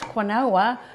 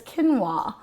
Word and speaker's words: quinoa: quinoa is not pronounced quinoa even though i'm pronouncing it exactly how it reads on the package or on a menu